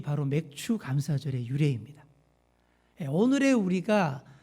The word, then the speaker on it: 맥추: 예, 우리 맥주 감사절 우리 발음을 잘 하셔야 돼요. 맥주 그러시면 안 됩니다. 맥추 감사절, 보리를 추수하고 드리는 그런 감사절기입니다.